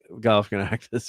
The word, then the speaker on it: Galifianakis: movie of the characters, so they had Zach Galifianakis. I can't say his name. How to say Zach's last name? Galifianakis.